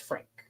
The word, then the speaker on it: Franke: uh oh, it's just Frank. Okay, thank you. Thank you. No, no context. Uh you don't pronounce the e, so it's just Frank.